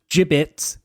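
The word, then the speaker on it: Jibbitz: There's gibbets. First of all, giblets. I don't think that's how it's pronounced. Giblets are what's in a bird that you pull out.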